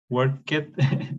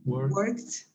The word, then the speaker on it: worked: Worked. Worked. Worked. Con una T final.